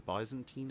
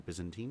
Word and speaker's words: Byzantine: The sole sort of exception to this was the Bisantine Empire or Byzantine depending on how you want to pronounce it.